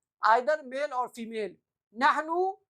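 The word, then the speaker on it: نحن: अना, जल्दी से इसको बोलना है, अना, नहनु, अना, नहनु, अना, नहनु, नहनु। कैसे पढ़ेंगे, नहनु, नहनो नहीं, नहनो नहीं, नहनु, नहनु। ऊ की आवाज निकालेंगे, ऊ की, नहनु, वी, हम लोग, अना,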